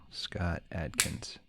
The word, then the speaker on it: Scott Adkins: pronounce it Scott and that's Atkins like the diet yeah cool Scott Atkins now I'm drawing a